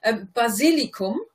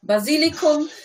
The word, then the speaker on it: Basilikum: Basilikum is the word. The pronunciation wasn't almost there. Basilikum.